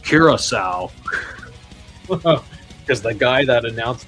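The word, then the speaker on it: Curaçao: This is pronounced Kiraasau because the guy that announced the country when it was drawn said Caracco just like me.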